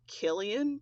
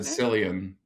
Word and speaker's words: Cillian: In spite of, I believe Killian possibly is how you say it. I always said Cillian.